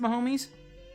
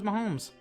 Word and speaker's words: Mahomes: are waking up oh so it is pronounced my homies i thought it was mahomes i don't know anything